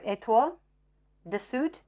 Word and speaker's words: Étoile du Sud: So, but Étoile du Sud, oh, it's not Étoile, sorry, Étoile du Sud, because the E on the end, because it's French, just means pronounce that last consonant. It doesn't mean make me a different accent.